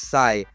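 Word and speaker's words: psi: It's pronounced as Sai, which honestly feels kind of appropriate. Sigh is called the wave function.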